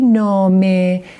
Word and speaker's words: نامه: When we have آخر چسبان, for instance, in the word نامه, نامه, I say نامه. At the end you hear a.